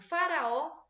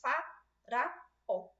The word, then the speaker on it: Faraó: Primeira afirmação que eles fazem, Faraó é uma oxítona dissílaba. É oxítona? Sim. Dissílaba? Não. Então, aqui nós temos uma meia-verdade, né? Nesse caso aqui, por que não é dissílaba? Porque eu tenho 3 sílabas.